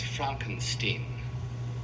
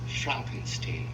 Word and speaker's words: Frankenstein: 1974 Young Frankenstein Frankenstein that's Frankenstein I beg your pardon my name it's pronounced Frankenstein an American grandson of